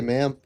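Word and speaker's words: MAIM: Chat, I finally figured out how to say ma'am. M-A-I-M, ma'am. Ma'am Moab.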